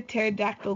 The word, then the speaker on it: pterodactyl: Joke of today: why can't you hear a pterodactyl go to the bathroom? Because this P is silent.